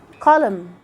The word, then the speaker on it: column: Column.